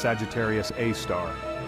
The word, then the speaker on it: Sagittarius A*: super massive black hole known as Sagittarius A asteris pronounced Sagittarius AAR this Behemoth is a